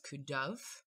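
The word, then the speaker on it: Cù Dubh: The band is called Kudu, sometimes referred to in Scottish as Kuduv, and it's spelled C-U space D-U-B-H.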